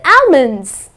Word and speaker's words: almond: like to eat five almonds that's incorrect the correct pronunciation is almond okay almond ok so the L is silent another word that I